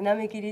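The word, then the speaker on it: 波切り: 波切り、これ波切りって読むんやで。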